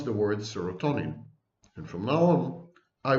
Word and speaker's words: serotonin: They combined the words serum and tonic, and they mispronounced the word.